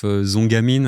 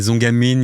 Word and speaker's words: Zongamin: And and uh and also at the at the time we used to listen to a lot of Zongamin.